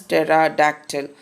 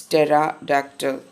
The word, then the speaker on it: pterodactyl: our today's lesson earth pterodactyl then the correct pronunciation is pterodactyl a picture is also there so this type of diagnosis are called pterodactyl it's Tara doctor another name of dinosaur which we come across